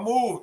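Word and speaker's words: MOVEE: Is that movie or move? M-O-V-E-E. That is a political party. How you pronounce it? Move.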